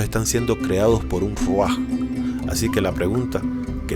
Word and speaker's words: Rúaj: En cuneiforme primitivo es un platillo volador que vuela o flota sobre un cuerpo de agua y se pronuncia Ruach.